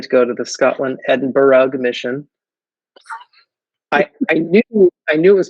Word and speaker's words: Edinburgh: but I still thought you had to say the ugh. So the very first response that my parents gave me to my call was my dad saying Edinburgh. So I learned how to pronounce it.